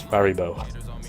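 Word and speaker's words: Faribault: It's pronounced like Haribo, it's Faribo.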